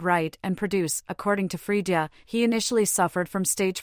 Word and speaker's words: Freedia: Freedia adopted his stage name after a friend dubbed him Freedia, pronounced Frida.